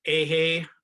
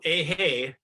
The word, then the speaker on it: Eihei: was kind enough to send out to you ahey would be his dharma name his buddhist name